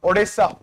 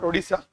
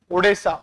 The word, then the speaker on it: Odessa: Nippro D N I T R O Zapur is write down Odessa not Odisa Odessa O D E S SA very very important.